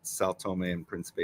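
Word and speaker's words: São Tomé and Príncipe: Sao Tome and Principe. Guys, look at that. Just like it sounds. Sao Tome and Principe.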